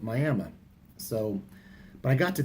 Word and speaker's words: Miami: And then tomorrow I'll be passing through an area in Oklahoma that's spelled like Miami, Florida, but they pronounce it Miami.